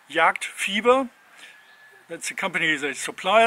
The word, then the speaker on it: Jagdfieber: Yeah, it's actually written like, well, the British and the English speaking Americans, they would pronounce it fiber, JagdFIEBER, because it's EE, but it means hunting. Fieber is, it's like a fever. It's hunting fever, translated word to word. Yeah, so it's JagdFIEBER.